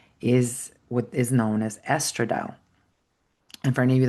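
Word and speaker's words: estradiol: proven like men when women have high estrad estradile they actually um attract men 58% of time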